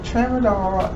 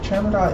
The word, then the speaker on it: tramadol: subscriptions and she was writing prescriptions for tramadol traverdoll is an opioid analgesic okay wait let me say it right because i'm i'm not a veterinarian right but tramadol is a centrally acting opioid analgesic parasite and